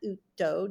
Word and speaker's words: Uto: Her name is Juliana Utto. Juliana, did I pronounce that correctly?